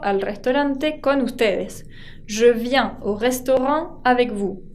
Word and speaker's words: viens: Je viens au restaurant avec vous. Je viens y no pronuncio la S.